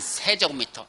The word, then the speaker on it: 세제곱미터: 3만 세제곱미터. 이거 제곱미터라고 읽으면 안 돼. 예, 무식한 소리 들어. 예, 면적은 제곱미터지만 부피는 세제곱미터야. 부피야.